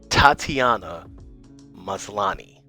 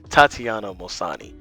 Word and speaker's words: Tatiana Maslany: I think it's like Tatiana Malani. Hold up, I got this. All right, I'm gonna try to say this the right way. All right. Tatiana Maslany.